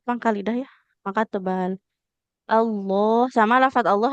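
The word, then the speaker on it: الله: Allah sama lafaz Allah. Hati-hati ya, jangan seperti ada wownya. Tidak Allah, tapi Allah. Allah. Allahu tapi tidak tidak Allah ya. Tapi Allah dia lamnya tebal.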